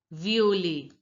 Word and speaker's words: violet: Now recognize that the I is pronounced as E in French. O, you already know that it is pronounced as O only. And the ET sound is pronounced Violet. as A in French. A.